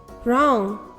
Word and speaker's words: wrong: er wrap right wrist wrong wreck did you notice that the letter w is silent in these words k n sounds um